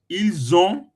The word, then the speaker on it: ils ont: But when you pronounce it alone, Yes. we don't put the s. You call it il. Understand now? Il. So now we say ils ont with the ONT. Because of the ONT that is a vowel, it make it to be z.